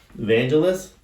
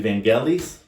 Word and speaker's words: Vangelis: Evangelist actually Vanellis, that's how you really pronounce it.